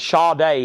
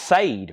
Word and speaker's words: Sade: Pink Floyd 325 and Shaw day has a bid for 35 now that's one of those names unless somebody tells you you would think it's pronounced Sade right unless somebody tells you